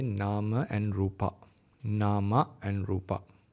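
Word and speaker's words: nāma: In Sinhalese pronunciation, we call nama rupa. In English, International Pāļi, we call it nama and rupa. Okay, because the A is not closed; it's open.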